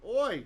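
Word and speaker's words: אוי: It would have been read oi. You read like oi, like you probably heard. Jews like to say oi, right?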